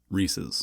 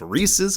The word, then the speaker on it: Reese's: It's Reese's Cups. And it's also the pieces that belong to Reese. Reese's Pieces. Because Reese's rhymes with pieces.